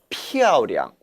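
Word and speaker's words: 漂亮: 량은 경성 처리해야 합니다. 따라 읽어봅니다. 피아오량.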